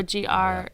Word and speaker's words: Gerads: his last name, but I always want to say it looks like it's Jared's to me, Mitch, but I don't know if it's Gerads. Oh, Gerads. Gerads. Yes, Mitch.